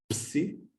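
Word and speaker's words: ψ: Siempre a pronunciar los dos elementos, no como en español que solemos decir psicología, hay que pronunciar siempre los dos, psi, psi.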